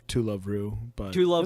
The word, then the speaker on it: To Love Ru: I think I might mention this again, but to love you is a good one. I mean, Oh my God, is that how you pronounce it? it's I pronounced heard different. it's called To Love Ru, but To love it's you, the- to love